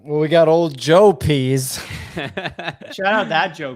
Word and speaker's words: Pease: I'll do is I think I'm going to pronounce their name correctly Joe Pease he does uh the kind of motion artwork